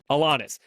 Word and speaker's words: Alanis: Alanis.